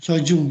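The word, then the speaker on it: 初旬: Artinya tanggal 1 sampai tanggal 初旬、 Sojung ya, dibacanya Sojung.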